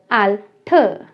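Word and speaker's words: Alter: Because जब हम German language में कहते हैं कि एट द एंड सबसे लास्ट में आर लगा है, तो वहाँ पर आर की साउंड ना आके अ की साउंड आती है, आल्ठ।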